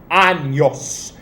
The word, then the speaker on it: años: this one right here anos is how you say that but if we take away that tilde take away instead of making it an a we make it annos now looking upon that looks innocent enough but instead of